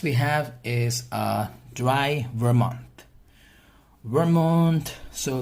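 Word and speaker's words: vermouth: have is a dry Vermont Vermont so the pronunciation of this is so ver mon one more clear as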